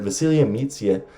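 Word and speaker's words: Vasilije Micić: celia meets you i had a subscriber tell me that's how you correctly pronounce it vasilia meets yet and shane larkin might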